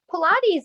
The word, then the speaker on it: Pilates: So the first question is, can you tell me what Pilates is and how do you exactly pronounce that? Yes, Pilates is created through Mr.